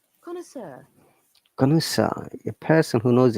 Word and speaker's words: connoisseur: Connoisseur seems to be a French word. Let me find out its pronunciation correctly. Connoisseur.